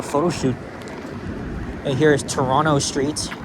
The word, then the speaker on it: Toronto: And here is Toronto Street. Notice that I haven't pronounced the second T. That's because that's the incorrect way.